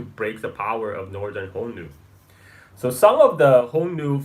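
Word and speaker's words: Xiongnu: Mongolian step is a is a shungu this shungu is a modern Mandarin pronunciation but in by in the middle Chinese of Han Dynasty is actually pronounced more like honu so um a Hu or aka the Hans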